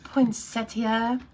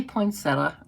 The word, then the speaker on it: poinsettia: in case you're wondering both pronunciations are correct so there you go i think it's probably more of a regional thing and i say poinsettia i don't put that i in there but stampin up has